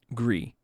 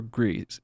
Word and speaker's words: Gris: Studios who did um grie or Greece griss however you want to pronounce that name there's like it's Gris um and it's basically on